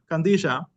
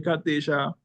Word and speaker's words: Qadisha: put out there and when you look at the word kandisha which the way we pronounce it and like you said Brother s you know we have the calans who say Kisha or the or the syc Orthodox who go and say kadi show they're all unique we